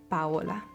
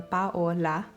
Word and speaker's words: Paola: pronounce it is that it rhymes with hola in Spanish, like hello in Spanish. Hola rhymes with my name, Paola. So you kind of break it up. You go Paola, Paola.